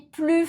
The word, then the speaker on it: plus: Je n'ai plus faim. Je n'ai plus faim. Est-ce que tu as entendu le S dans le mot plus? Pas pour la négation. Tu ne dois pas le prononcer.